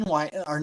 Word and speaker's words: Washoe: Our main w our main website is Wo Patriots.